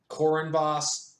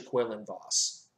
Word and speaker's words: Quinlan Vos: could see Quillen boss I know some people pronounce it kourin boss but it's actually kweilyn boss anyway quillon boss this was interesting if you